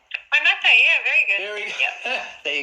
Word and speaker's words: Waimate: Now you'll have to excuse my pronunciation if I haven't got it right. Waimate, is that right? Waimate, yeah, very good.